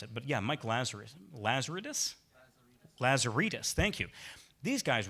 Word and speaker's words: Lazaridis: Yeah, I can't pronounce it, but. Yeah. Mike. Laser. Lazaridis.